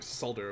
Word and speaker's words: solder: Solder over here. It's called Solder, yeah. I'm glad you said it right. Said what right? You mean solder? The word solder. You mean solder? With the L in it.